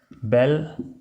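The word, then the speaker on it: bel: VI, बेल and Nouvelle, इनकी दोनों की प्रोनाउंसिएशन सेम है।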